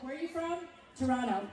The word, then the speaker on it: Toronto: I explain to people you're from Toronto when you don't pronounce the second T. Someone was like, "Where are you from?" Toronto. Toronto?